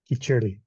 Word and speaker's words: khichdi: them rice and lentils, and that's pronounced khichdi. Grant, is Khichdi, that right? yes, khichdi.